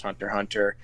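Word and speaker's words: Hunter × Hunter: don't be confused with the x in the middle it's just a weird thing that they do in the anime where they put x between words i i don't know why but it's still pronounced hunter hunter just be wary of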